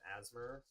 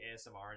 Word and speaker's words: ASMR: going to do some asmer I know people say ASMR that's the correct way to say it but I say asmer and I always have and I always will Asma yes asmer um